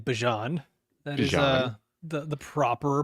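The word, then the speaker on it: Bijan: And good on you saying Bjon. That is the the proper pronunciation.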